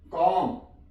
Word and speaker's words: calm: For example CALM, कॉम। यहां पे L silent है, कॉम।